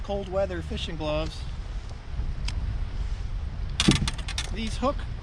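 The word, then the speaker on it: Huk: But anyway, if you're looking for a good pair of fishing gloves, cold weather fishing gloves, these Hook, I guess it's pronounced Hook, H-U-K, They got a little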